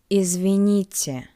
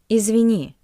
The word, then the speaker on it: извините: извините As well as with the previous word, it can be used both in formal and in informal communication.